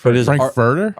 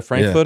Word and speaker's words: Frankfurter: I know the real word is Frankf Furer. Frankfurter. Is every idiot I know calling it a Frankfooter?